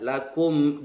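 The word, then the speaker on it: لكم: Hukum bacaannya izhar syafawi. Dibaca jelas dengan mulut terkatup atau tertutup. Lakum, mulut tertutup habis. Lakum, jangan sampai ada keluar udara dari mulut tersebut.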